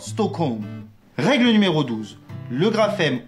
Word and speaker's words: Stockholm: l'on applique cette règle, le L ne se prononce pas lorsque suivi du son K, comme par exemple dans folk ou encore yoke, ou aussi du son M, comme par exemple dans Holmes ou encore Stockholm.